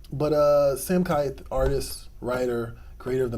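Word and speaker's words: Sam Kieth: I've been told his name is Sam Keith, not Sam Keith. I've been saying it wrong for years.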